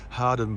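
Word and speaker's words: Hawarden: next station down there just past the bridge hardened bridge you think it's got spelled howard but you pronounce it hard and i think it's just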